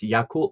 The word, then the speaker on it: Yakult: edition of the show pronunciation is spot on it's yakult swallows and chunichi dragons so very nice good